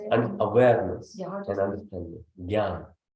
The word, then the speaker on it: jnana: Jnana. Jnana.